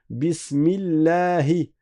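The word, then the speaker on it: بسم الله: Bismillahi. Bismillahi. Bismillahi. Vous voyez que j'ai dit la la et j'ai pas dit la.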